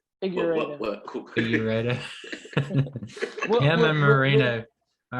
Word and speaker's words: Figueiredo: Figueiredo.